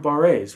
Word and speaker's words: barre: The other thing in this piece is there's a number of barres, right? Barre chords. Or bar chords, depending on how you want to pronounce it.